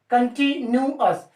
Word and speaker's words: continuous: कंटिन्यूअस, कंटी के बाद में न्यू कहना है आपको, कंटू नहीं कहना।